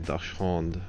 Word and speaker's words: Dachshund: But now I know it's a German word, so I got to give it the German pronunciation. Dachshund.